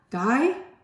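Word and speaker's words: Gay-Lussac: of this so um guy it says gay but you pronounce it guy I think um guy lusac law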